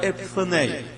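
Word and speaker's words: ἐπιφάνεια: na Bíblia a palavra epifaneia? Se não tem esta palavra, você não procura o significado. Seria, já que o irmão Paulo está anotando, E-P-I-F-H-A-N-A-E-A. A pronúncia é mais ou menos isso, epifaneia. Quando isso está no original,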